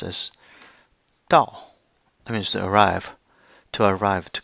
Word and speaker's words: 到: So the whole thing is pronounced as 到. That means to arrive, to get to. Why 到? Because this word is actually from this word, which means 刀.